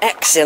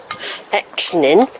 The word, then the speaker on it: Exning: I'm going to call it Exning. I can't pronounce the N. Not from Somerset. We can't do things like that. Exning.